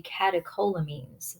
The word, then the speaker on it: catecholamines: similar hormones the the group is called the catecholamines that's how you pronounce that so epinephrine we're really familiar with